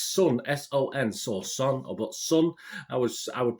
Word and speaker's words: Son: And the next one we got is Sun, S-O-N, so Son, but Sun. I would pronounce it as a UK guy.